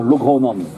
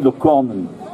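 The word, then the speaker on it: Locronan: Alors, Loc Ronan est quelque chose de bizarre, parce que suivant les règles de prononciation du breton, on devrait dire Logronan. Et tout le monde dit Locornen.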